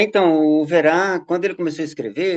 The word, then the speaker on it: Owerá: bom a a música do overá que se escreve o w e r a tem em todo lugar